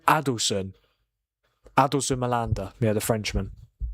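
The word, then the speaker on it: Adilson: Adelson.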